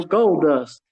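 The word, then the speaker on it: Goldust: Yep, it rhymes with gust. Golden Dust? There you go, gold dust.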